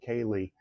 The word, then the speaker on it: ceilidh: Kaylee, by the way, is spelled Ceilidh, obviously, and it's musicians from